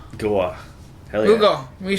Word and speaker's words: Goa: What's it pronounced? Goa.